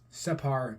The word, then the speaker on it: separ: it is a separ separ or doll um separ being the pronunciation for it and its use in the